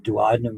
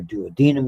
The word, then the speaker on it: duodenum: And they go directly into the duodenum or duodenum, depending how you pronounce it.